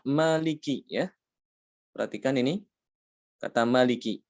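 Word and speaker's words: مَالِكِ: Kata maliki. Ini kan tidak ada alifnya ya.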